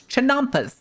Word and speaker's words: chinampas: Chinampas.